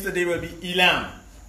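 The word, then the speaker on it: עילם: Yeah, so the pronunciation of the Hebrew for Elam will be Ayalam.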